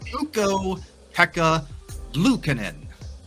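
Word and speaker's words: Ukko-Pekka Luukkonen: you were remarkably close this name is pronounced uko Pekka Lucen Lucen so I think cat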